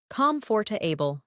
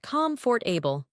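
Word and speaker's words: comfortable: Comforable, not comfort for able.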